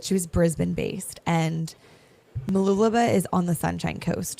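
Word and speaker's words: Mooloolaba: It was called Malu Laba. I pronounced it Mulu Laba for the long longest time until I got there and figured out it was not called that.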